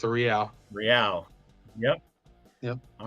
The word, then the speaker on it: real: Rial pronounced the real rial.